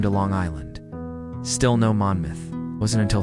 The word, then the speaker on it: Monmouth: And if you're wondering why we pronounce it Manmouth instead of Monmouth, it's because the name comes from the Welsh word for red, not from the equally valid moth.